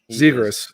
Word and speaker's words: Zegras: I got to get my good old Zagreus jersey. Zegras. It's Zegras. You keep saying it wrong. It's Zegras.